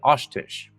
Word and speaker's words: Oshtish: Directly translated in Crow, it means finds them and kills them, but her name is actually Oshtish.